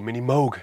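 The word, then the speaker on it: Minimoog: But to be absolutely honest with you, it doesn't really sound like a Mini Moog, or Mini Moog, as the Americans say.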